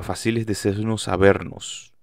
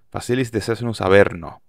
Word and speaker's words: Facilis Descensus Averno: disco que se llama facilis de cnus avernus lo pronuncié horrible facilis de cnus a verno que es este trabajo